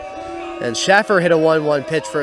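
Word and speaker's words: Schaffer: F's it is scha FF er it's actually Shaffer one of the S is silent and Shaffer hit a 1-1 pitch for a single back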